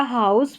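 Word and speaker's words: house: यहाँ पर जैसे कि पहले मैंने बताया कि कुछ स्पेलिंग्स में, मैक्सिमम ज़्यादातर स्पेलिंग्स में एस से पहले अगर वाउल रहता है तो एस का साउंड ज होता है, लेकिन यहाँ पर देखा कि हाउस और माउस में एस का साउंड स ही है।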